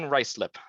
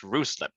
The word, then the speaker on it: Ruislip: So your support detachment in Ruislip, not locally pronounced Ruislip, is located within the M25 highway that essentially circles Greater London that you can see there.